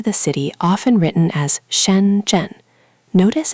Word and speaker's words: Shenzhen: You might fly into the city often written as Shenzhen. Notice it has two retroflex sounds back to back, sh and j. Both need that curl. Try it slowly. Shenzhen.